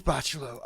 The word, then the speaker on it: Bachalo: Oh yeah, I swear it is Bachalo.